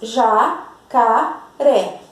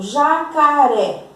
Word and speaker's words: jacaré: Por exemplo, jacaré, ré. Então, aqui o ré é a sílaba tônica.